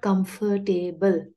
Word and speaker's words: comfortable: It's pronounced as comfortable, not comfortable. The number of syllables is important.